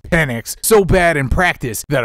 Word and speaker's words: Penix: step aside worried that penix will outperform him and usurp his job is a man whose name is actually pronounced penic so bad in practice